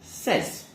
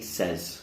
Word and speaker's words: says: say they say but in the third person when we add the s we don't say says we actually just say says so i say hello he says goodbye okay say says